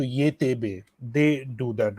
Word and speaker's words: YTB: YTB in English, and if you pronounce it in Turkish, Y is Ye, T is te, and B is be. So ye te be.